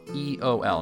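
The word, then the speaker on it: Eöl: So the next one, Eol. Now this one's interesting because we do have the 2 dots above the E indicating that it is in fact its own syllable.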